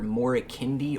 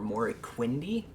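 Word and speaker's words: Moriquendi: It's pronounced either Morikindi or Moriquindi, which roughly translates into the tongues of men as elves of darkness.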